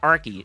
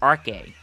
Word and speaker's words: Arke: so I've been pronouncing like Professor Arky. It's not Arky. I think she pronounced it as Professor Arke.